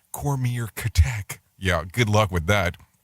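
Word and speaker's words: Comirnaty: which will now be marketed as a combinary pronounced cormier catech yeah good luck with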